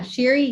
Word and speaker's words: Shiri: last name again so i make sure i pronounce it correctly yeah sherry okay so sherry is here shari's with